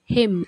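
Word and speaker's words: hymn: श्रद्धांजलि tribute tribute bhajan हिम एच आई एम हिम हिम pronounce करना है।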